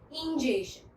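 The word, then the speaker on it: ingestion: Word अच्छे से pronounce कीजिएगा, इंजेशन। स्टूडेंट्स, आपने सुना है इंजेक्शन?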